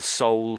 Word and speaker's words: sole: I was the sole person there. You could say I was or I am the sole person there. So it's exactly the same pronunciation as this word.